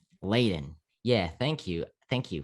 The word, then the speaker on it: Ladin: just so you know it's pronounced laden laden yeah thank you thank